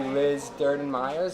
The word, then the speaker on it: Liz Durden-Myers: the episode hi so I have with me Liz Durden Myers am I pronouncing it right yeah that's correct okay awesome